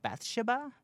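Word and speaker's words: Bathsheba: Um, and the demon inside of the Conjuring one is the witch, uh, Bethsha Sherman. Yeah, that's how you say it. Beth Shabba Sherman.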